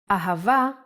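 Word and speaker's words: אהבה: Ahava is love in Hebrew. Let's try to write it down. Ah, pronounced Ha.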